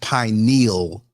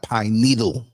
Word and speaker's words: pineal: pineal gland I just want to say it's pronounced pineal not pine needle okay it sounds so ignorant when I hear people say pine needle it's not a needle it's a gland pine